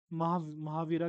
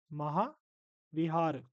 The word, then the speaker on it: महाविहार: photo लगा रखी है महावीरा नहीं बोलेंगे एक्चुअली क्या है महा विहार महा विहार तो स्पेलिंग ठीक कर लेना यह स्पेलिंग ठीक कर लेना महाविहार है ना कि महावीरा फिर आगे बढ़ते हैं